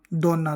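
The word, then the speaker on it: donna: हैं डी का उच्चारण डी का जो उच्चारण है वो आमतौर पर द की तरह होता है जैसे हम देखते हैं डी ओ एन एन आ दोना दोना यानी औरत वमन तो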